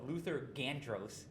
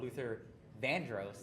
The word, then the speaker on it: Luther Vandross: And then once she opened up the envelope, she she said Luther Van no Luther Gandros won the award. even though Luther Vandros, that's what how you actually say his name.